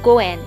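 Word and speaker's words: 五円: The most preferable amount to offer is 5 yen, which is pronounced goen in Japanese. The word goen also means fate or destiny.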